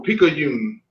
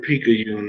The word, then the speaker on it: Picayune: No, Picayune. No, I don't think so. But yeah, you probably have to spell it for me or something. So, but I haven't heard it, I think. Okay, the word Picayune is P-I-C.